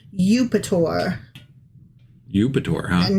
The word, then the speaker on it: Eupator: Eupator. Europator. I kind of actually like that name. It's kind of neat. Yeah. It's almost Jupiter, but it's spelled EUP.